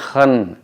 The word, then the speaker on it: खन: ये जब हम ख के उच्चारण में देखेंगे, जैसे इसको हम लोग बोलते हैं खन, आँख को हम लोग खन बोलते हैं, ईयर